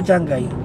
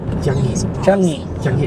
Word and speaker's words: Changi: How do you say it, sir? Changi o Changai? Changi Airport. Changi Airport. For all this time, ang basa ko, Changai. Saan ko nakuha kaya?